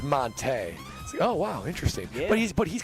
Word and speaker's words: Monte: time we called him Monty Ball. Yeah. And it took like a couple years where it's, you know, it's actually Monte. It's like Monte.